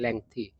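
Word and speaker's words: lengthy: एंड his dialogues were लेंथी, लेंदी नहीं इसको पढ़ाते, लेंथी बोला जाता है ना, सही उच्चारण होता है लेंथी, बहुत लोग लेंदी पढ़ते हैं, वैसा नहीं होता है।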